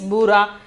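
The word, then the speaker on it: भूरा: The pronunciation is bura.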